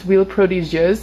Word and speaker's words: Huile Prodigieuse: Anyways, this right here is the Nuxe, it's pronounced Huile Prodigieuse.